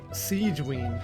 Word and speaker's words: Sigewinne: Sigewinne. Sigewinne. Okay, I was definitely pronouncing that wrong before.